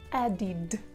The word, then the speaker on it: added: And here you should pronounce id, added, added. The rules are the following. After d and t, you pronounce like id, id, added, added.